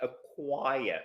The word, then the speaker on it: acquire: at the spelling and we don't pronounce the C we don't we just say acquire so the Q takes